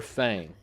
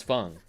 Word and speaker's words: Feng: So I feel like everybody's been saying her name wrong, and her name is Feng, not Fang, because of that.